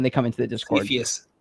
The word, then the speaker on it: Cepheus: Cepheus. Cepheus. Okay. Cepheus.